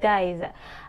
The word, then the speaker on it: diez: I pronounce it dies.